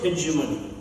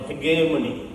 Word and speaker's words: hegemony: The subalterns are those who are the victims of hegemony or hegemony. As per the OED, you can pronounce it both ways. It's basically an Italian, modern Italian word.